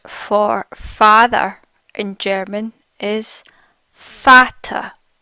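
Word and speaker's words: Vater: members the word for mother in German is pronounced mutter mutter mutter the word for father in German is fatter FATA fatter next we'll look at how to see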